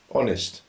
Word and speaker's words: honest: knife the case Island honest the H is silent wife husbands um I